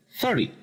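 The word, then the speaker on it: thirty: El número 30 se pronuncia con el acento al principio, 30. Y el número 13 se pronuncia con el acento en la última sílaba, 13.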